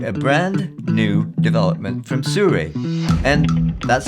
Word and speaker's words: Sirui: I'm pleased to be able to show and tell you about a brand new development from Sirui. And that's how it's pronounced, I checked.